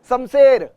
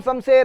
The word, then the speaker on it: शमशेर: मैंने बहुतों को सुना है, शमशेर, मेरा नाम शमशेर है, अबे तेरा नाम शमशेर है भाई, शमशेर कैसे होता है शमशेर, श है वो, स नहीं है वो।